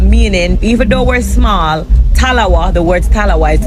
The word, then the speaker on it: talawah: Because I mean Jamaicans they have this saying little but we talawa. Did I say it right? Definitely little butawa.